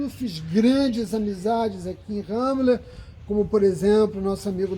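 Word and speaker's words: Ramla: na cidade de ramola se escreve ramola mas se pronuncia ramela Esse é uma cidade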